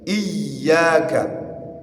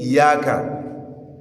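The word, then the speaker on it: إِيَّاكَ: Iyyaka. Iyya. The ya' is carrying shaddah. Aywa. So, avoid saying iyaka. Uh iyaka, it is wrong. There is shadda on that ya on.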